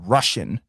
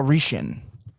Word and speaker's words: Russian: Donc, Russian. La prononciation, c'est Russian war. against Ukraine, Donc, pas Russian.